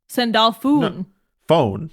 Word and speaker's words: Sandalphon: paris it's true sandalfoon sendalfuh phone just with the long o sound of o well a long o